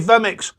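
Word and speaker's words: vMix: how you say it is it v-mix vermix vemmix that's what he said dave vemmix hey me i've actually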